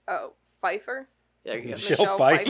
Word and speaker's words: Pfeiffer: Kevin Kline and Michelle Piff. There's a P in front of the F. It's usually the F that you're pronouncing, not the P. Oh, Pfeiffer?